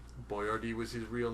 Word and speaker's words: Boyardee: It's spelled B-O-Y-A-R-D-E because B-O-I-A-R-D-I he felt was too difficult for the average American to read and pronounce appropriately, and he wanted people to pronounce it That's just appropriately, so he ridiculous. spelled it out phonetically.